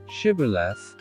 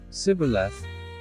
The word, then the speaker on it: Shibboleth: If he said, "No," then they said to him, "Now say, Shibboleth," and he said, "Sibboleth," for he couldn't manage to pronounce it correctly.